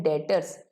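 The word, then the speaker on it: debtors: accounts में जाता है डेटर्स क्या बोला जाता है डेटर B silent B silent होता है उन्हें क्या बोला जाता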